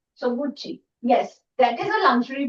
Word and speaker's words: Gucci: otherwise c i but because it's an Italian brand pronounced as CCI is pronounced as Gucci. Okay, that sound. So, Gucci.